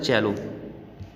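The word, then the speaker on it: cello: I play the चेलो इन the orchestra, मैं orchestra में चेलो बजाता हूँ। चेलो बच्चों एक म्यूज़िकल इंस्ट्रूमेंट होता है, उसका जो प्रोनाउंसिएशन है वो होता है चेलो।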